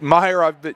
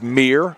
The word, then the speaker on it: Meir: I've been pronouncing Wyatt's last name wrong all evening, and I was corrected at halftime. Instead of Meyer, it is Meir.